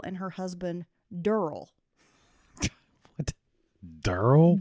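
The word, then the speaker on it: Durrell: her husband durl what durl d r r e l l l durl that's spilled like a sound every time I look at it I think Duracell and so I have to fight to not call him durel oh my gosh it's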